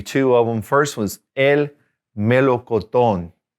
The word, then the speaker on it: melocotón: First one's el melocotón. El melocotón. Accent on the last O.